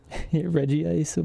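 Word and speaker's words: Regice: Reggie Ice for how to pronounce it. I feel like that's what it should be cuz it's Reggie Rock, Reggie Steel, and then Reg Ice. No, no, Reggie Ice.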